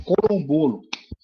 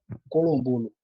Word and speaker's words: Colombolo: pra você conhecer, chama Corombolo, que no caso é Quimbuto, do tronco banto, que significa galo, né? Colombolo. Um colombolo, dependendo da pronúncia e tal. Aqui é colombolo.